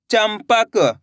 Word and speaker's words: चंपक: चा में अनुस्वार की मात्रा चम, पा, क, तो मिलके बन जाएगा चंपक। कैसे पढ़ेंगे? चंपक। इस शब्द के अंदर अपन ने आधा माँ का उच्चारण निकाला है।